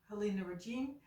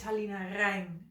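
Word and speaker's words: Halina Reijn: in that way but it's not helina Regin it's also not helina rain it is helina rain so R I have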